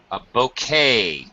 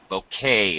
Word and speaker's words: bouquet: Bouquet. Bouquet is how we pronounce that. Bouquet.